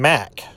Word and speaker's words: Mak: It's Dorian Mack. M-A-K. I thought at first maybe they mispronounced Matha as math, but it is Mac, M-A-K.